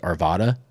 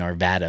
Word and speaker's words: Arvada: Like Arvada is like a little city in Colorado, and everybody from out of state always says Arvada. But for me, it's been Arvada my entire life.